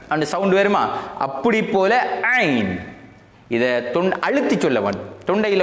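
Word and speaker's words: عين: ஐன் இது ஐன் ஐன் கொய்யுன் இல்லை ஐன் ஐன் ஐனுன் அதனுடைய நித்தாட்டும் போது ஐன் சொல்ல வேண்டும். ஐன் ஐன் ஐன் ஐன் ஐன் அண்டு வரணும்.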